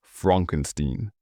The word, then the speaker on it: Frankenstein: Frederick Frankenstein, pronounced Frankenstein, the reluctant heir to his grandfather's mad legacy.